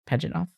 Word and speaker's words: Pajitnov: That's how you say it, Pajitnov.